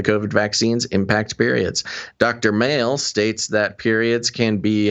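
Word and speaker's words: Male: Victoria Mail, that's funny. It's funny that the doctor's name is Dr. Mail, a reproductive immunologist from Imperial College London. Spelled like M-A-L-E. M-A-L-E, yeah.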